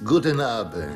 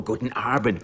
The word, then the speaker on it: guten Abend: Guten Abend. Nein, guten Abend. Guten Abend. Einen Moment bitte, ja? Es heißt guten Abend. Guten Abend. Nein, doch nicht so. Guten Abend. Mit Betonung auf dem A.